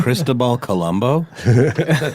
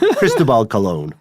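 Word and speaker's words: Cristóbal Colón: Did you say Cristobal Colombo? Cristobal Colon. Oh, okay. Mm-hmm. I was like, I am not aware of this pronunciation.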